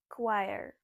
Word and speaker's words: choir: Choir? No, it's choir.